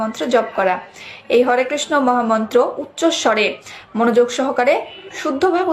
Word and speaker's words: হরে কৃষ্ণ: তাহলে আশা করি হরে কৃষ্ণ মহামন্ত্রের অর্থ বুঝে গেছেন। এবার বলবো হরে কৃষ্ণ বলতে হবে নাকি হরে কৃষ্ণা? তাহলে সঠিক উচ্চারণ কোনটি হবে, হরে কৃষ্ণ নাকি হরে কৃষ্ণা? সঠিক উচ্চারণ হচ্ছে হরে কৃষ্ণ।